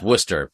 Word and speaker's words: Worcester: It's Worcester, but you'll get there. I have made a lot of progress. So if you're googling it spelled I won't say the phonetic that's insulting to the northeast. It is spelled differently than it sounds.